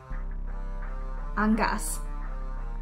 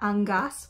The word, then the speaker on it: angas: but I feel like they're saying it differently than I am angas not angas with a hard G I don't know I